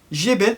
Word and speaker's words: Giébel: ça se prononce ah à mon avis on dit Karine Jebel parce que regardez il y a le E accent aigu ou grave je sais plus lequel des deux qui est écrit juste ici donc je